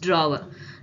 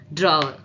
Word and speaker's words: drawer: And last word is நாட் ட்ராயர். இது வரைக்கும் நம்ம ட்ராயர் தானே கேட்டிருப்போம். இட்ஸ் நாட் அ ட்ராயர், இட்ஸ் ட்ராவர். Drawer.